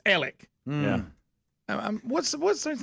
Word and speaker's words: Alex: they call it Murdock his name looks like Alex and they call him Alec yes what is that